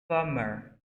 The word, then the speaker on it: plumber: A gente escreve plumber, mas a gente não escreve o B. A gente silent. Plumber.